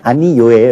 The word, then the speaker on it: 아니요: 물론 발음은 아니 요예요. 역시 니의 이 모음 때문에 뒤는 무조건 요로 발음 나게 돼 있어요.